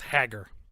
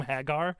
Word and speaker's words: Hagar: I don't get it you call him Hagar Hagar it's just haggar mike mike is a hag are you said hag are whatever Hagar the Viking king see to me c2e